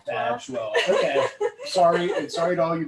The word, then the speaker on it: Badgewell: So, hi everybody, Chip Paul, and I'm here with Mattie Bagwell. Very lucky to have Mattie Bagwell here. Badgewell. Golly. It's okay. It's either mispronounced or misspelled.